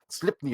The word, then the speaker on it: Sleipnir: And Odin would fly/ride his horse, which my pronunciation again, Sleipnir, I think is his name, and it's a 6-legged horse. Sleipnir.